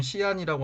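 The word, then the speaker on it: 西安: A는 전한과 수당의 수도였던 장안, 현재 지명으로는 서안, 중국어 발음은 시안이라고 하는 지역입니다.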